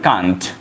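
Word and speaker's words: can't: আর যদি শর্টে বলি তাহলে কান্ট, ওকে, আর প্রোনাউন্সিয়েশনটা কান্টও হয় ক্যান্টও হয়, আমেরিকান ইংলিশে বলে ক্যান্ট আর ব্রিটিশ ইংলিশে কান্ট, ওকে।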